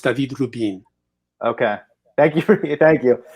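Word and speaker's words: David Rubín: He's from Spain, so it's pronounced David Rubin.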